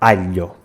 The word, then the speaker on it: aglio: We pronounce a short /ʎ/: alho; and in Italian it is pronounced a long /ʎʎ/: aglio KITCHEN You got it wrong.